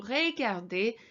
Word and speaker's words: regarder: And both these words have got this EZ ending, so that's an A sound. So regarder, écouter.